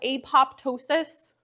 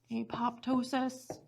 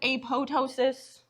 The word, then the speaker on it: apoptosis: there's this process called apoptosis I can put that on the board apoptosis I've heard some people pronounce it apotosis like the second p is sometimes silent either way is acceptable um but apoptosis is